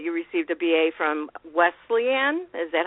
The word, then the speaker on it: Wesleyan: Well, I also read in your bio, of course, that you received a BA from Wesleyan.